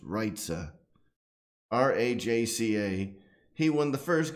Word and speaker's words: Rajca: Michael Rajca, Rajca is what we just call him, but apparently his last name is pronounced Rajca.